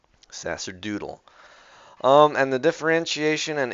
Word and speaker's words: sacerdotal: have just yeah sacraments sacerdotal class wait let's see if it's a hard sea it's a soft s yeah it's a soft sea sacerdotal yes a long o Sasser doodle um and the differentiation